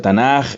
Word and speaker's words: Tanaj: el acrónimo y bueno en castellano a veces se pronuncia tanak y le han puesto por decirles algo esto tanak entonces e esto es el